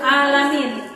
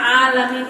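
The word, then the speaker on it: العالمين: Kalau kita bacanya alamin, karena alamin itu adalah alam, semesta alam. Tapi kalau seseorang membaca alamin, itu artinya artinya seseorang justru mendoakan supaya Tuhannya sakit-sakit. Segala puji bagi Allah, Rob yang sakit-sakit.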